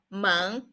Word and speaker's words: 门: word we are going to learn is a monk mon it means the door so it's quite